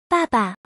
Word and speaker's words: 爸爸: word of dad or father this word is pronounced as follow Papa this word looks like the images of two